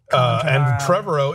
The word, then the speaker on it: Trevorrow: Lord and Miller and Trevorrow if they whatever. It rhymes with tomorrow.